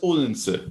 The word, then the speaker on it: Odense: Anyway, so back to So that's Odense, and that's how it's said in modern Danish.